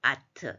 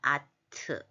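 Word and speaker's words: אַתְּ: 여자 너는 어 트죠 아트 이거는 끝에 오면서 세로점 두 개는 발음이 안 하니까 아트 아트인데요 알레브 떨어지고 샤마르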